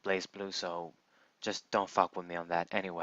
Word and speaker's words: BlazBlue: blaze blaze blow game people pronounce it blasts boo I like to call it blazblue so just don't [